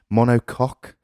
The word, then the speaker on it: monocoque: Monocoque, but French. Cool. C-O-Q-U-E, Monocoque, which means one penis.